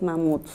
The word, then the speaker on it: mamut: la palabra especial es mamut qué pasa con ella cuando yo era si la veo digo mamut la última sílaba es tónica eso qué quiere decir que es una palabra aguda bueno que hemos dicho